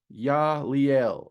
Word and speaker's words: Yeliel: So the second Goetic angel is Yaliel, is how I have always heard it pronounced. And when I look up the phonetic pronunciation, that is what it comes up as a Y, Y-E-H dash Lee Lee dash Ell.